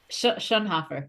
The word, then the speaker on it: Schoenhofer: I have a very special guest with me here today, Schoenhofer. Did I say it correctly? Schoenhofer. It's tricky. Schoenhofer. So close. I know.